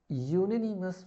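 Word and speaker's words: unanimous: तो यहाँ पे य प्रोनाउंसिएट हो रहा है, दैट्स वाई यहाँ पे यूनिनिमस बाय अ।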